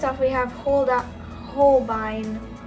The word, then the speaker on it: Holbein: first off we have how did you pronounce it it's holbein oh okay okay i got it right you did get it right yeah so first off we have hold up holbine it's a pretty like